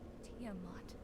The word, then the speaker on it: Tiamat: Tiamat. Oh, that's how you pronounce it.